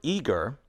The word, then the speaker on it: eager: In the word eager, the first syllable is stressed. Eager.